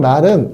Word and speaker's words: 말: 자, 예를 들면 요렇게 타고 다니는 말은 말 이렇게 짧게 발음해야겠죠? 그런 반면에 우리가 사람이 하는 말은 말 이렇게 해야잖아요. 이게 길게 발음해야죠.